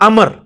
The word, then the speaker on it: Amr: वो लफ्ज़ गलत है लफ्ज़ उमरू तो कोई लफ्ज़ नहीं है लब्ज है अमर लिखा होता है उम्र लेकिन उसका मतलब वो जो है वो साइलेंट होता है और वो का मतलब यह है की आपने इसे पेस की बजे जबर से पढ़ना है उम्र की विजय पढ़ना है अमर तो हजरत अल्लाह इसका